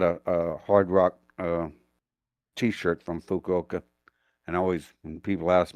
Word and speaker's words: Fukuoka: to take it into Fukuoka, which, by the way, sounds a lot like "fuck you, okay." I got a Hard Rock T-shirt from Fukuoka, and always when people